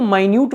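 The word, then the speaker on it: minute: मतलब होता है छोटा तो इसको माइन्यूट पढ़ा जाता है मिनट नहीं पढ़ा जाता और मिनट तब पढ़ते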